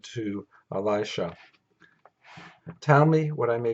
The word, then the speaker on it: Elisha: Elijah said to Elisha and I pronounce it Elisha that seems to be what how it pronounced um and it's a woman's name in English now Alicia I think that might actually be close to the Hebrew but in any case I call it Elisha like most Scholars stay